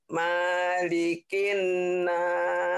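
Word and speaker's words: ملك الناس: bagus kemudian Ma malikinas nah ini kalau di Fatihah Maliki yaumiddin panjang di sini tak ada yang manjangin in coba lagiikinas Jadi Manya pendek banyak orang yang bacanya maanya panjang salah itu kalau Fatihah betuliki yaumin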